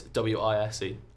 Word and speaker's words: Weyes: But it's Wise.